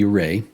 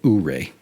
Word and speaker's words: Ouray: Locals say Ouray, tourists say Ouray.